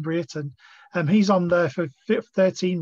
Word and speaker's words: Brereton: I should be calling him Brereton, shouldn't I? That's yeah. New pronunciation, Ben Brereton.